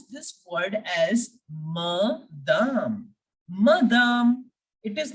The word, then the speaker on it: madame: Bonjour, madame. Bonjour, madame. Okay, here I am not pronouncing madam as English. It is not madam.